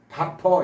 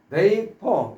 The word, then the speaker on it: vapor: 요거 바퍼 이런 식으로 밥통에서 밥을 풀면 우선 밥통에 뚜껑을 열기 위해서 열고 밥을 풀면 수증기가 나와서 없어지죠. 그래서 원래 베이퍼 이렇게 발음해야 되는데 바퍼 이렇게 하면서 소개를 드린 적 있습니다.